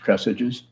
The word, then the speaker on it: Kresge's: Maybe it was Kresge's, which used to be pronounced Cressages.